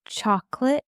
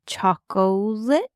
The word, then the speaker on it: chocolate: I feel like it just sounds so much better when you say chocolate instead of chlet.